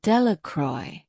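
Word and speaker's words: Delacroix: Jones and Dicky delacroy the villagers pronounced this name delacroy eventually made a great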